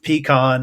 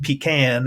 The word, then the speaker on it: pecan: both pecan and pecan and pecan, depending on where you're from, because it's all the same word all the way through.